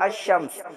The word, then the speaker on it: الشمس: आप देख रहे हैं अशम्स, हालांकि लाम को हम क्या कर रहे हैं? हज़फ कर रहे हैं। लाम को हम साइलेंट करके क्या पढ़ते हैं? अशम्सु।